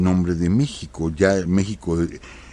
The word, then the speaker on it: México: de México ya en México aunque se escribe con x pero se pronuncia con j con la J española Entonces el lenguaje en